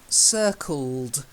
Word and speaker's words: circled: The first one, circled. You've got to get to circle. He circled round. Yeah. So you've got to get the d at the end, of course.